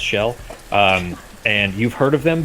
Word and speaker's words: Xel: XEL, pronounced shell.